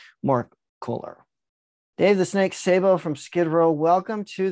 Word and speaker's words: Sabo: Dave the Snake Sabo from Skid Row, welcome to the Music Universe podcast.